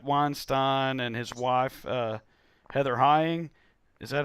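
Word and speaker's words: Heying: and his wife Heather Hying, is that how you say it? Okay, and somebody else. Rhymes with flying.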